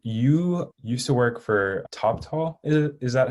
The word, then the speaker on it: Toptal: used to work for top tall is it is that how you say it yeah yeah it's like top talent but the int ah